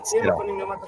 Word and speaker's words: Sderot: Sderot.